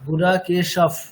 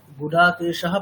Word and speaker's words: गुडाकेशः: পকার থাকলে বিসর্গের উচ্চারণটা ফকারের মতো হবে, তাই তো? এরকম বলা হয়েছিল। দেখবেন এই স্টার্টিং উচ্চারণগুলো একটু খুলে খুলে দেখবেন, ওখানে আছে সব। তাহলে কেমন হবে? गुडाकेशः परन्तप। গুড়া কেশাফ, এরকম, মানে ফকারের মতো আর কি।